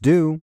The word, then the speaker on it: tout: placement bets contra and tout or do it is pronounced do i will explain about